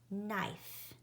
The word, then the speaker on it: knife: I do not hear the K sound, so that's a ghost letter. I'm going to draw a little ghost around it.